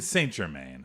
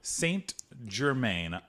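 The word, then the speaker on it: St-Germain: Jim man nope nope why did you say it that way that's how it would be pronounced in French I should be like German st. Germain st.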